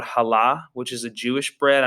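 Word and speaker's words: challah: type of bread called hala which is a jewish bread i know it looks like it would be pronounced chala but it said and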